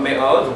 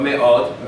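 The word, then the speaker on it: מאוד: Make sure you pronounce those syllables correctly. Me'od. Me'od. Me'od. It's almost like you put a little stress on each one, because if not, it'll slur together and you won't hear the vowels.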